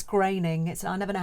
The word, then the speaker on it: Groening: Did you know that the Simpsons creator, Matt, I think it's Groening, I never know how to pronounce it. It's sort of spelled Groening, but Groening, yeah, okay, I think Matt Groening, named the characters after his own family names.